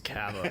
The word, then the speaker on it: Kava: I think Kava Construction. I'm like, well, no, that's actually, they say their last name wrong. It's Kava.